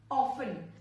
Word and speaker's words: often: People say it as often, but the T is silent here. The T, letter T is silent here, so the correct pronunciation is often and not often.